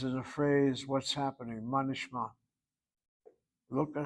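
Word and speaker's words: מה נשמע: We don't say ma nishma, we go manishma, manishma. We literally link the word to the word nishma.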